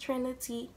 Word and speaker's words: Trinity: first name is Trinity it's pronounced Trinity a lot of people say Trinity that's not my name my name is Trinity that's how it's pronounced so yeah that's